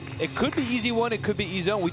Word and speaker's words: EZONE: They said it actually is the easy one. That's how you're supposed to pronounce it. It's not the Ezone, it's easy one.